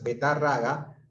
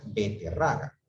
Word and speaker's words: beterraga: No, aquí incorrecto es betarraga, cuando lo correcto es beterraga.